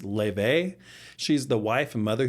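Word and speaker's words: Laufey: legit, God of War Lafay or I guess the right way to say is Lebe.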